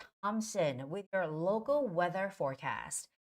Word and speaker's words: Thompson: see the word Thomson you think th so you have to make the th sound right no th here in Thompson you not make the T as it's not thumps it's not thumps it's Thompson just like simple T Angela Thompson Angela Thompson